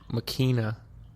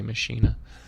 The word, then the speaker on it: Machina: The correct pronunciation is Machina, but me being American and Americanizing everything in my path, I say Machina.